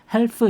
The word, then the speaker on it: half: 참고로 말씀드리면 여기 있는 L은 묵음입니다. half 이렇게 리을 소리 내시면 안 돼요.